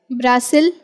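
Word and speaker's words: Brasil: जाता है बताए जैन ब्रासिल बिल्कुल ठीक पोर्तुगीज लैंग्वेज में इसे ब्रासिल कहा जाता है और क्या आप जानते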